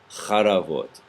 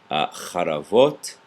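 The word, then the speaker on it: חרבות: But when we go to the plural, it reduces. So we have charavot. I should say the first syllable reduces, the second one elongates.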